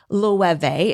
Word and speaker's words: Loewe: The spelling on this, it makes no sense at all. At first, I had no idea how to say it either. It's spelled Loewe. Loewe is the perfect way to say that. And it is a Spanish fashion house, but that's actually a German-influenced word.